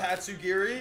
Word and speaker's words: Tatsugiri: Tatsugiri. Now, you pronounced that right.